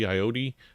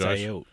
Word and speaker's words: Ayotte: We have Governor Kelly Ayotte. I guess that's how you say her name. I apologize. I think it's Ayotte. Ayotte. I always put the E in there for some reason. Ayotte.